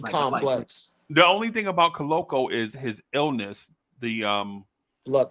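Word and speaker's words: Koloko: I think that Brown and Colo, how do you say his name? Christian Colo. Yeah, Colo. You're Coloco.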